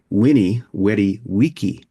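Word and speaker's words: veni vidi vici: is Vinnie Vivvichi right people would have pronounced it winnie wy wiki really's back then were pronounced like w yeah interesting well I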